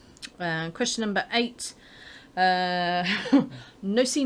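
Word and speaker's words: nocino: question number eight uh nussy now this is how i'm saying it even though i want to call it nichino because i think it sounds better especially with my gino de campo accent there yeah my very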